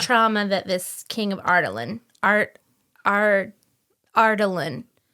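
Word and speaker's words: Adarlan: Ardalan. It's Ardalan. Okay, Sure. Ardalan. Because that's how Elizabeth Evans says it.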